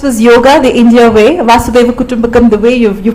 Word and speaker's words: Vasudhaiva Kutumbakam: So this was yoga, the India way, Vasudhaiva Kutumbakam, the way you're pronouncing it absolutely aptly right.